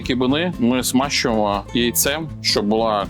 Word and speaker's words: кибини: Іноді кибини називають, наголошують ще кибини, але ми консультувалися з перекладачем з караїмської і він порадив наголошувати на останньому и, тому що у караїмській мові наголос традиційно падає на останній склад.